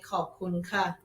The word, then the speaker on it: ขอบคุณค่ะ: ขอบคุณครับ ขอบคุณครับ For guys say ขอบคุณครับ For girls say ขอบคุณค่ะ ขอบคุณค่ะ Yes. Guys say cup and women say ka.